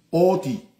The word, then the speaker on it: Otín: Otín, Otín, que se escribe Otín, pero la N se convierte en nasal y desaparece, por lo que se pronuncia Oti.